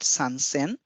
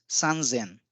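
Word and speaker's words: さんぜん: Now 1,000 is sen and this is an exception when the value is 3 we do not call it sansen but it becomes sanzen for the ease of pronunciation.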